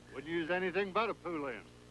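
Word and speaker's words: Poulan: wouldn't use anything but a puland. Poland, Ed. Poland. And for over 30 years, they've been mispronouncing our name. Pand. So, we'd like to remind you that our name is Poland.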